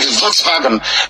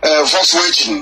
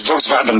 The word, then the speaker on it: Volkswagen: pronounced as V like volksvagen before I used to think um Volkswagen no it's Volkswagen that's what it's called because W is pronounced as V Nigeria's next leader ties